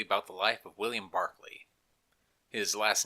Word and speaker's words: Berkeley: to talk briefly about the life of William Barclay his last name is spelled Berkley but pronounced Barkley Barkley was made governor of Virginia in 1642